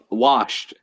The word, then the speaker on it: washed: Washed. WARSH. Warsh. That's how I pronounce it here.